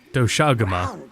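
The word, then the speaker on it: Doshaguma: brown fur big fangs ridges on its forehead doaga that's how you say it big no is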